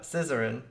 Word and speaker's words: Zizaran: How do you say it? Zizaran. Zizaran.